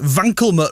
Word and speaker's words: Wankelmut: one day Reckoning song on radio one the vanut remix that's how you pronounce it Assaf a Vian apparently it's been